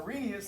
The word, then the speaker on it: Arrhenius: about here today but our genius our arrhenius sometimes i think the age is silent there okay which i don't even know why you need to have it it's silent all right but hey let's make